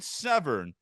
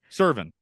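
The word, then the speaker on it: Serven: You would think Brian Severn shot someone. Why do you the way- always say his name wrong? Servin.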